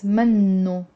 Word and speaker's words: منه: اكتشفت إنه منه مجدد. منه means it's not. It actually means he is not. Literally means he is not. منه. There is a dhamma here on the noon with a shadda.